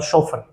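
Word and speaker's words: chauffeur: और आपको इसकी स्पेलिंग जरूर याद रखनी है क्योंकि ये मिस स्पेल्ड में बहुत बार पूछा जाता है, CHAUFFER, सोफर, ठीक है ना, तो इसको ध्यान में रखना है आपको।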